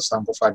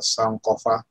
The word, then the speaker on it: Sankofa: But most people who just see it written, they just pronounce it like that, but Sankofa. And if you listen to the divine drummer in the movie, Sankofa, he's actually pronouncing it correctly, of course. He says Sankofa or Sankofa, if you listen to him. He's not saying Sankofa or Sankofa. Right. So not an O and O sound, Sankofa, but that'll be Sankofa.